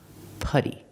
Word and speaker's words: putty: let's look at putty putty has a letter U before a double consonant that's a short sound like cup and and up putty what is putty putty